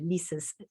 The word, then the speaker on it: Leisa: your name properly yes because it's Lisa but written in a very uh in a in a very artistic I find way um so I mean